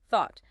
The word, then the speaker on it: thought: Thought, as we just emphasized, this word absolutely requires that voiceless th sound tongue between teeth.